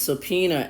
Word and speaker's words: subpoena: I'm watching it the judge ordered subpoenas it's subpena Su p o e n a Suba but it's pronounced SOA SOA are an order by a